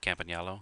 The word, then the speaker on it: Campagnolo: Campagnolo, yeah.